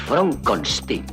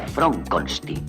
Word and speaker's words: Frankenstein: Es Fronkstein. ¿Cómo ha dicho usted? Mi nombre se pronuncia Fronstein.